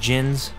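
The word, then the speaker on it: Djinn: Just for future reference you don't pronounce the d oh Gins so they're just Gins the D is silent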